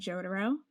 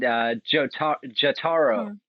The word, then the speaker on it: Jotaro: All right, and we are back with Pat from Alesana and Jotaro.